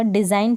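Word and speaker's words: design: का प्रदूषण नहीं होगा डिजाइन पड़ेगी डिजाइन घनी पड़ेगी डिजाइन अब इसको भी डिजाइन पढेंगे जी का उच्चारण नहीं हो रहा इसको भी फैन पढेंगे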